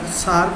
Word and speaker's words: Tsar: It is written as TSAR, Tsar, but it is pronounced as Tsar.